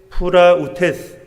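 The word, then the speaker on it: πραΰτης: 무슨 뜻인가 하는 건데요 온유한이라는 헬라어 단어가 프라우테스 그렇게 발음을 하는데요 여기에 상응하는 히브리어 단어가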